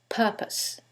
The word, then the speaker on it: purpose: is the first syllable and that changes the pronunciation completely the first word is propose and the second word is purpose so what is the conclusion of the examples